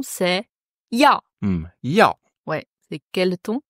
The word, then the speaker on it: 药: Faut pas le considérer comme deux sons séparés, c'est vraiment un son.